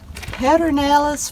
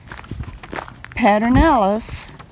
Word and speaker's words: Pedernales: guys, we are here at Pedernales Falls.